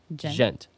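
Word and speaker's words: djent: From old school thrash to modern the gent. The D is silent. I just remembered that. Gent.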